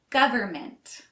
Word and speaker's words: government: for this next one we don't really pronounce the N government the government decided to